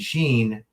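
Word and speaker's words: Shein: etsy is saying that U and Sheen that's the proper way to say it are throwing just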